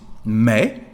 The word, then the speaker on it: mes: of Mo and Ma which is may may we don't pronounce the last letter S and may works for